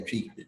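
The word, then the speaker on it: Twi: of his native language, which is Tree, right? That's how you would say it, right? That's how you pronounce it, Tree? Yeah, Tree. Yeah, so he used a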